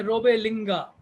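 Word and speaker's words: Robert Lingat: France के धर्मशास्त्रियों में रोबेलिंगा, spelling है रॉबर्ट लिंगात लेकिन उच्चारण है रोबेलिंगा, फ्रांस के धर्मशास्त्रियों में प्रमुख नाम है।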